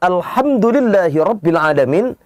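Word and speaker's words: الحمد: Sering kita dapati yang membacanya bukan Alhamdulillahi Rabbil Alamin, melainkan haknya berubah menjadi hak. Alhamdu, segala puji, lillahi bagi Allah.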